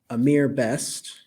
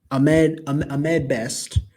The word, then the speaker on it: Ahmed Best: We saw the return of Amir Best, is Amr. I'm the sorry, Ahmed Best as how do you pronounce this name?